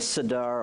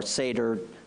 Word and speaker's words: Seder: call it you know Passover is called the sadar or Seder it's pronounced differently in different places and basically the word